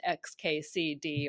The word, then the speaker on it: xkcd: You've got it right there. It's xkcd. I actually spent a lot of time trying to pick out 4 letters that would be clear that they didn't have an obvious pronunciation so that people would not try to read it as a word.